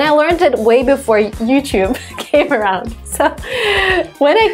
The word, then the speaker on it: YouTube: Yeah, we add a Y sound, so it should be YouTube. But when we have the Y sound, or like the T-Y-U sound, we often squish it together and make a ch sound, tube.